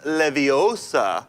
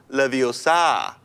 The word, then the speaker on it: Leviosa: hmm Sam Thompson drew it's pronounced Leviosa not Leviosa honestly kitchen any of